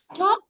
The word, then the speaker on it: talk: giraffe I would love to talk the L silent talk to you but I